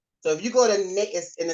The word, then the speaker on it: NAICS: So if you go to NAICS, and it's pronounced NAICS, they have a definition on the website that says it rhymes with snakes.